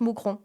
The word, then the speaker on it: Mouscron: fais un concert à Mousron en Belgique. Voilà, si vous voulez venir en marche. Voilà. Moonron. Ouais, ça s'écrit Mouscron mais ça se prononce Mousron.